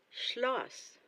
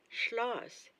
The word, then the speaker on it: Schloss: Castle, Schloss. Schloss, das Schloss. Remember, the combination of consonants SCH, you say sh.